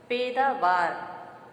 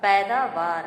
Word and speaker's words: पैदावार: तो पहला शोध है इसके बाद से पेटरवार जबकि सही शब्द हमारा होगा पैदावार का दूसरा चक्र मारा